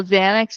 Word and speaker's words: Xanax: If you think about how Xanax is spelled first off pronouncing that beginning X a N A X. Okay. Well, it's like Xerox, right?